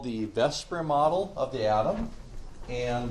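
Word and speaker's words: VSEPR: Chapter 10 deals with what's called the Vesper model of the atom. And the Vesper model is spelled like this.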